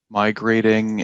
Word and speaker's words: migrating: Migrating is 1T because it's a long A sound. The double consonant makes the vowel sound short. So if this had a double T, it would be pronounced migrating.